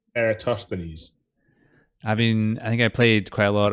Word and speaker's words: Eratosthenes: I would have said Eratosthenes. I think I played quite a lot of Assassin's Creed,